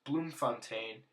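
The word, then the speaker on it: Bloemfontein: The third capital pronounced Bloomfontaine is the judicial capital as the seat of the Supreme Court of Appeal.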